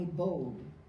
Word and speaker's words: boad: The baby is on a boad, B-O-A-D, that's sort of how they would have pronounced it, the word with a German accent.